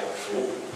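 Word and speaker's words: 福: And death symbol is meaning the good luck in China, in Chinese, and that's pronounced like Fu.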